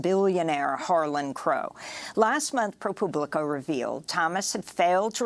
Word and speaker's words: ProPublica: paid for by Chris is it really pronounced propublica I I like it if it is I thought it was Republic I just always pronounced it it's propublica it's like like a Publius or something um I